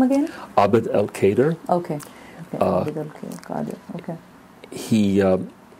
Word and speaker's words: Abd el-Kader: Abd el-Kader.